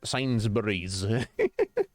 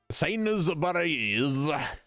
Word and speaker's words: Sainsbury's: Yeah, it's not Sainsbury's. Sainsbury's. But that's just how it is. Yeah, that's the thing. Syllables are great, but you know, there is a limit.